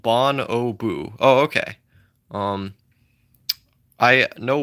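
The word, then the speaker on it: bonobo: It's pronounced bon o boo.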